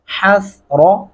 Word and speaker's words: حسرة: حسرہ را کو موٹا پڑھیں گے، حسرہ نہیں کرنا، حسرۃ علی العباد.